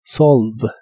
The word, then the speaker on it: solve: de resolver un problema la e del final no se pronuncia Así que esta palabra termina con el sonido de la v o b chica como la conozcas la cual es la biodental y vibrante en inglés solve solve y usarás